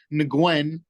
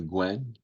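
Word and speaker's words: Nguyen: we have erens versus Stephen ngwen because that's how they was pronouncing it yesterday so that's how I'm pronounce it the Gwen the Gwen okay and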